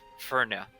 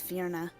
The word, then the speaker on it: Fierna: I may have mispronounced it. It is spelled Fierna. I was going to Fierna. start spelling it Inferna, like INF. It's Fierna. Yeah, Fierna. I apologize.